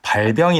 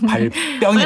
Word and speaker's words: 발병: 나를 버리고 가시는 님은 심리도 못 가서 발병이 나지 않아요. 발병이 나야 돼요. 나네요. 아 그러네요. 네. 네. 왜 병 똑같이 쓰는데 발병이라고 읽으면 안 돼요? 다른 말과 헷갈리기 때문이죠.